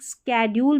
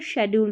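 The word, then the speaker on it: schedule: देखिए एक स्केड्यूल भी पढ़ते हैं और शेड्यूल भी, दोनों तरीके से प्रोनाउंस करते हैं। आजकल इसको स्केड्यूल ज़्यादातर जो स्पीकिंग में बोलते हैं, ठीक है।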